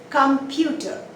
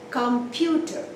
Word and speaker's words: computer: Computer. Computer. 3-syllable word. But where do you give the stress? Computer. Computer. You don't say computer. You stress only on one syllable, that is in the middle, computer.